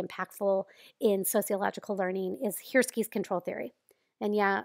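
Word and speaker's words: Hirschi: in sociological learning is here skis control theory and yeah apparently it's pronounced here ski I know it doesn't totally look like that so here's what it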